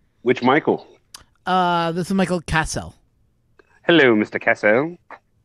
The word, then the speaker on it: Cassell: This is Michael Cassell. Hello, Mr. Cassell. Not so Castle.